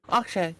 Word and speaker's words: Okrzej: Okrzej, yes, that's how Yeah. you pronounce it.